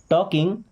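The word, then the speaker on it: talking: सो are means क्या और हैं, वी मीन्स हम, टॉकिंग, देखिए एल साइलेंट है, टॉकिंग मीन्स बात कर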